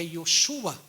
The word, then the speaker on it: Yoshua: O aramaico, na pronúncia do nome é igual ao hebraico, é Yoshua.